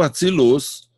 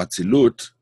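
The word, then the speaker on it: אצילות: Now, the world of Atsilus or Atsilut, sometimes they use the Ashkenazi pronunciation, which pronounce a T as an S, Atsilus or Atsilut. It doesn't matter. You could read it either way.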